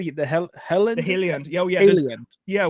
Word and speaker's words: Heliand: The Heliand?